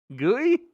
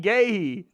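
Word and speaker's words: Guéhi: Gooey. Oh, gay. Okay, that's definitely not how I would think that would be spelled. How is that? How is that gayhei? Gu Ue H I is gay.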